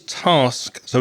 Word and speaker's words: tasks: Then you've got to add another consonant, the s on the end, and you've got tasks.